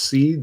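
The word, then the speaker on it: Ceed: I believe this is pronounced Seed, C-E-E-D, says HRFunk, what is your opinion on the AK platform versus the AR?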